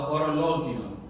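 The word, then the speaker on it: Horologion: It's called the Orologion. That's how it's pronounced. It's silent H.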